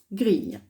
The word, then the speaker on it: grille: En fait, vous voyez, le I, il sert deux fois. Il sert pour faire la syllabe gris, mais il sert aussi à faire le son Y, grille.